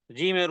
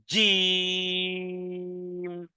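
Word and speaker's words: جيم: হলো জিম পঞ্চম অক্ষর জিমের উচ্চারণ হলো জিহ্বার মধ্যখান এবং এর উপরে তারুর সঙ্গে লাগিয়ে অত্যন্ত কঠিন ভাবে পাথরের মতন শক্ত করে উচ্চারণে ধাক্কা দিয়ে এভাবে করে বলতে হবে জিম জিম জিম হুজাজ হুজাজ এরপরে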